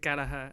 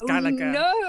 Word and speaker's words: Gallagher: she completely reprimanded me for mispronouncing Liam gallager surname I said galaha and she said I can't let you say that that's so wrong so Mrs chopr I know it's Gaga and um there you